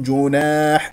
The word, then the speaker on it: جناح: اسمع صوت الميم المظهره ج جيم مضمومه نضم الشفتين ج جناح افتح الفم في الالف التي بعد النون والحاء هنا ا مضموم تنوين ضم جاء بعدها همزه اذا اظهار جناح ان نسمع صوت النون المظهره وايضا جاء هنا بكلمه ان